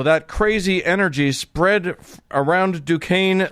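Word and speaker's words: Duquesne: In 1967, a small group of apparently disgruntled Catholics met at the Catholic Dukane. I have to remind myself how to pronounce that because it's spelled Dquznney. Dukane University.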